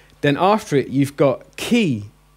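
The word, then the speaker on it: χῖ: after it you've got key as in chemical ok key as in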